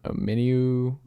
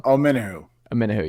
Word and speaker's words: Omenihu: How do you pronounce his name? Omeniu? I'm not sure how to pronounce his name. Got Charles 1. Omenihu, yeah.